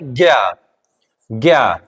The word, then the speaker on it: ज्ञ: हमारा वर्ण है ज्ञ ये किसका योग है ज और प्लस य क्या हो जाएगा ज